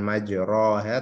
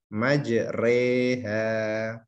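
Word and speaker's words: مجراها: Imalah artinya memiringkan bunyi fathah pada kasroh. Jadi bacanya majre, bukan majroha tapi majreha.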